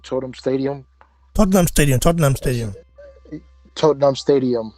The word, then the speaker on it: Tottenham: But now, this fight is being held at the Totem. How do you say his name? Totem Stadium. Tottenham Stadium.